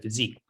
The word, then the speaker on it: Pheasyque: In fact, if you look at the name, which of course is spelled like physique of the body, right? Mm-hmm. But there's an easy in the word. So it's PHEASYQUE.